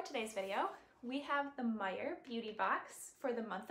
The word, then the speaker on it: Meijer: is a grocery store i think it's meyer is exclusive to like the midwestern states so i live in michigan um and it's spelt meyer like that not meyer like fred meyer m-e-y-e-r and it's a monthly